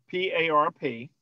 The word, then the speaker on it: PARP: Did you say PARP inhibitors? PARP inhibitors. So there are a variety. Can you spell that? Spell that, please. Sure. P-A-R-P.